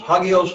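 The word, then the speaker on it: ἅγιος: Because again, the rough breathing in front of the words. So it's hagios, hagios, hagios, kurios, hotels.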